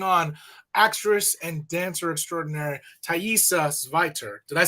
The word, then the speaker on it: Thaisa Zweiter: This is the only time I'm looking right at the camera, but we're going to bring on actress and dancer extraordinary Thaisa Zweiter.